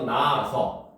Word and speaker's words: 낳아서: 그러니까 여기서 보면 우리가 낫다 여기에 아서가 붙게 되면 적을 때는 히읗을 써서 나아서 쓰지만 발음할 때는 히읗이 탈락돼서 나아서 이렇게 발음이 돼요.